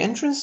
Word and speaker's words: entrance: For example, the entrance to the museum was decorated with colorful banners and flowers. Entrance, if we shift the stress to the mid-syllable, would be a verb, which means the act of captivating someone.